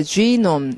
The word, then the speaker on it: genome: 자, genome 이렇게 읽으셔야 되고 게놈이라고 하거나 지놈이라고 어느 쪽으로도 이상하지만 제대로 발음해서 지놈이라고 읽고 그러니까 지놈 인간 유전자 지도를 지도를 만드는 그들의 프로젝트가 굉장히 새로운 지평을 여는 그런 연구다라고 여겨졌다.